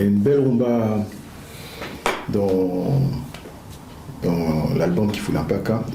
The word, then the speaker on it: Kifula Mpaka: Kifula Mpaka. Je prononce bien le Kikongo là?